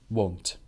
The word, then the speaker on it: won't: I won't go there won't so w annt want is wha want or and W Ont is won't won't so that the vowel